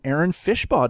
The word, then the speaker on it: Aaron Fishbaugh: him for real but I'd like to welcome Aaron fishpaw to the show Aaron welcome well thank you